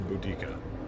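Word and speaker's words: Boudicca: lock in the Boadicea bow to see air boodikka they never remember the pronunciation creative differences what is it with you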